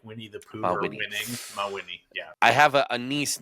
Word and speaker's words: Mawhinney: There's no C in there. I'm like, where did you get Mick? So anyways, I always say Ma than Winnie, like Winnie the Pooh or winning. Mawhinney.